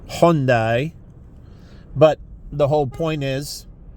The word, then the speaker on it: Hyundai: a foreign name like they found out with Hyundai, which is not pronounced that way. It's Hyundai.